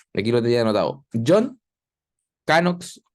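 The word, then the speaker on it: Knox: ya ahí está aquí lo tenía anotado John canox o no se escribe John como escribimos John y canox una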